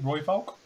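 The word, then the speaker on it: Rooivalk: yes so yes so you say it as roy bulk isn't it right roy volk yes so it's like roy hulk but with an f so roy pog is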